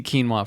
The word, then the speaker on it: quinoa: exactly and people are like uh ki quin qui noah quinoa and it's like there are commercials made